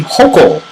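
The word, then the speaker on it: Hochul: a new uh Governor Kathy hokel I believe is how you say her name has approved an enormously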